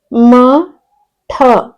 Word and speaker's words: ಮಠ: ಠ ಜ ಠ ರ ಜಠರ ಓಕೆ ನೆಕ್ಸ್ಟ್ ಎರಡನೆದು ಮ ಠ ಮಠ ನೋಡಿ ಉಚ್ಚಾರಣೆಯನ್ನ ಗಮನಿಸಿ ಮಠ ಅನ್ನಬಾರದು ಮ ಠ ಮಠ ಓಕೆ